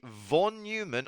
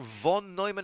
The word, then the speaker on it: von Neumann: Next, we have the von Neumann or von Neumann architecture, depending on how you want to pronounce it.